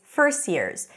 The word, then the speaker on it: first years: the script right it's first years and that's because it represents how people say it with the T appears between two consonants usually it's dropped just like here first